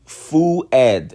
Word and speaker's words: Fuad: My name is Omar Mosen Ibraim Fuad.